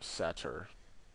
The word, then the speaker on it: Satyr: So we are blocking with the Satyr if he attacks. Or Satyr. I think I pronounced that wrong. The Y is after the T.